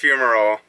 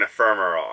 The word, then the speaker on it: fumarole: Well, it's pronounced fumarole, but we kept saying ephemeral.